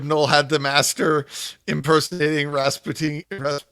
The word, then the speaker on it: Rasputin: had the master impersonating rasputiny how do you say that well it's Rasputin but the song says Rasputin because it's in a different language yeah okay Rasputin um